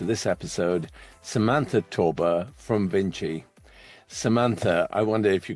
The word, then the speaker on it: VNCCII: I am the founder of my company Vinci. It's spelled v n c c i i.